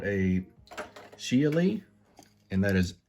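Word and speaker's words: Xiali: i a l i i tried to google how to pronounce that for you guys lots of different uh speakers were pronouncing it differently but most of them tended to go with geely and so this is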